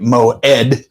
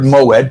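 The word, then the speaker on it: מוֹעֵד: Pronounced, if I got this right, Moed. The stress is on the ed.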